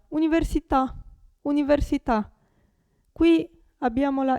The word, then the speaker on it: università: parola finisce per una vocale accentata Come si pronuncia Università università Qui abbiamo la e accentata cioè facoltà